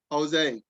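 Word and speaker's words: José: Jose, did I say it right? Yeah, you did, you did.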